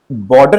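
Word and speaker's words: Bordeaux: लेकिन जब आप बोर्डे को, अब बच्चों लास्ट में यूएक्स लिखा हुआ है, लेकिन अगर आप यू के प्रोनाउंसिएशन पे जाएंगे तो इसे क्या करते हैं बच्चों, लास्ट के इन लेटर्स को नहीं पढ़ते हैं, दैट इज बोर्डे।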